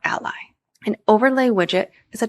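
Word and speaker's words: a11y: a and Y and it's commonly pronounced Ali or Ally and overlay widget is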